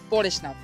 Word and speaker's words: পরেশনাথ: দেখুন হিন্দিতে উচ্চারণ করলে সেটা হবে পারসনাথ এবং বাংলাতে উচ্চারণ করলে সেটা হবে পরেশনাথ।